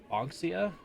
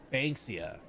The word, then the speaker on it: Banksia: I think her name was Miss Anxia? He chuckles at my mispronunciation. Banksia, like bake.